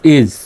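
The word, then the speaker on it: is: আইএস, ইজ, এখানে এস এর উচ্চারণ বর্গীয় জয়ের মতো হবে। আইএস ইস নয়, ইজ।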